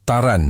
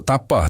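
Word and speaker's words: Тарань: Walaupun ejaannya Tapah B tapi sebutan yang betul ialah Taran. Dia orang tak sebut Tapah tapi cara sebutnya ialah taran.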